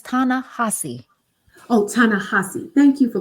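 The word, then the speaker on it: Ta-Nehisi: name aana hessie Co how how you say it that man name is tanassi oh tanassi thank you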